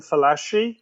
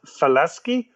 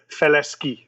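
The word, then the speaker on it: Falaschi: to falasky because uh many people call him falashi yes and that's just not correct his name was falasky or in or if you want the french pronunciation faleski merci felizky all right well the cars bodied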